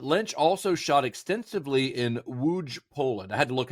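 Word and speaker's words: Łódź: So, most of Inland Empire was filmed in Los Angeles, but Lynch also shot extensively in Wuge, Poland. I had to look up how you pronounce that because I didn't want to it up.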